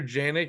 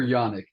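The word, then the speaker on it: Janik: you threw out there is it Walker janic is that how you say his name Walker Yanik Yanik my bad there we go see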